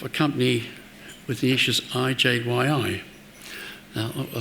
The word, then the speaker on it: IJYI: I am the CEO of IJYI, and yes, that is how it's pronounced.